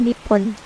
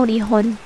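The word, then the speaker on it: 日本: eksonim dalam bahasa Jepang nama negara itu adalah Nipon tau nihon dua pengucapan alternatif untuk nomenklatur yang mengekspresikan asal matahari bendera nasional Jepang hinomaru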